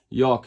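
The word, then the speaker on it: Jauch: clocks but they used other movements like uh Josh which is pronounced Yak in German um which is written j a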